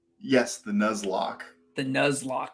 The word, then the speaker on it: Nuzlocke: Nuzlocke. Yes, the nuzlock. The nuzlock. It's very close to headlock, but it's a nuzlock.